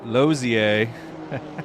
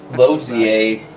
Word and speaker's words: Lozier: Lozier. Lozier. As it's actually pronounced.